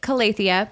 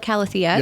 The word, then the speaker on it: Calathea: I call it Calathea, but you call it Calathea. Yep. Yeah. So both ways.